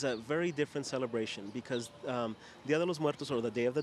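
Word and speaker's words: Día de los Muertos: I am standing here today with Evan, and Evan is going to talk to us about Dia de los Muertos.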